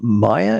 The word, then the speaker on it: Maya: Uh Maya, if I have your name pronounced correctly. Yes, it's Maya Maka, but Maya is fine and you pronounced it correctly.